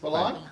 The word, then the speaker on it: Balin: And so this is our second show segment, and I have as my guest this half hour, Balin. Am I pronouncing that correct? Balin.